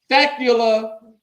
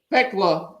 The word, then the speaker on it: Thecla: Thecula. I think, yeah, Thecla. That's how you say it. I put Leah. There ain't no I.